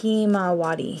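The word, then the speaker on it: ひまわり: In Japanese, it's pronounced himawari.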